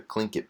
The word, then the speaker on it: Tlingit: good example is the the Tlingit people some are the clink it peoples the way it's actually pronounced they right around 8000